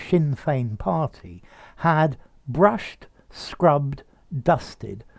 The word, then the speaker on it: Sinn Féin: During his incarceration, de Valera's Sinn Féin, notice the pronunciation, Sinn Féin party, had brushed, scrubbed, dusted, swept the boards